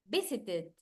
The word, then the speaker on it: visited: easiest of them all because when the verb finishes in the OR in it sounds like it for example visited visited visited ended ended ended started